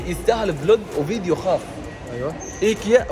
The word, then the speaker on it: IKEA: إيكيا أو مثل ما الاسم النطق الصحيح إيكيا. والله أسف تقول إيكيا. بس إحنا نقول إيكيا إيكيا.